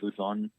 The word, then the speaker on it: Luzon: Like L-O, that's how it's pronounced, Luzon.